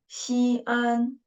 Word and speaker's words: 西安: But if there are two syllables, we should use the syllable dividing mark at here. And it is separated into two syllables, okay? 西安, that is the city of Xi'an, the name of the city, okay?